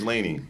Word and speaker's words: Lanie: life like hey there we go so miss laney yes that's how you say it correctly right